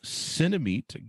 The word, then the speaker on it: Cinemeet: check it out guys cinemate give us the plugs of where people can order that on the internet yeah so it's uh cinema like cinema and meeting somebody cinemate c-i-n-e-m-e-e-t and you can search